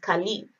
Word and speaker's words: Caleb: In Arabic, Caleb is pronounced Kalib and dog is pronounced Al-Kalb.